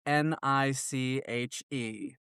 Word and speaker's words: niche: It is disgusting the way my country peeps say the word that is spelled n i c h e. We should say niche like the English people.